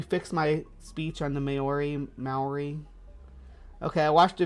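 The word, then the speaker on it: Māori: how to say it it is ma but the re is like fancy sounding not quite rolling but almost already uh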